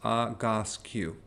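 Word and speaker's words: Egoscue: and it's called the agoscu method okay so it's and i wrote down the pronunciation because it's a little hard to pronounce ah goss q okay so i put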